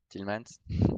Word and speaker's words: Tielemans: tilman style main donc quand tu dis tielemans thilleman s'est tu prononces le n donc ça passe ça